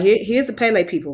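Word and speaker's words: Kpelle: face okay and what tribe is that the Pele people the Pele people k-p-e-l-l-e okay you said how you spell it again k-p-e-l-l-e p k p e l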